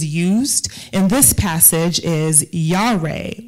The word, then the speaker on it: yare: way fearfully is used in this passage is yahrae y-a-r-e but pronounced yare and that means by definition to